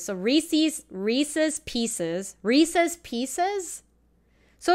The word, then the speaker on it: Reese's: up to his name it rhymes with pieces so Reese's Reese's Pieces Reese's Pieces